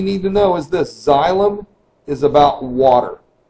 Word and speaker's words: xylem: to talk about are cells or tubes called xylem that's how that's pronounced you'll notice in this picture on the